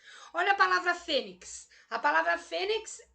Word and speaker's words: fênix: Olha a palavra fênix. A palavra fênix, a sílaba tônica dela é o Fê, uma palavra paroxítona.